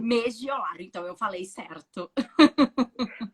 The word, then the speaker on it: Megiolaro: Megiolaro. Megiolaro, então eu falei certo. É a mesma pronúncia é o que está escrito.